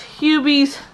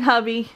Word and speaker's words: Hubie: you're sleepy huh okay it's hubies you be halloween i was saying hubby i'll never hear the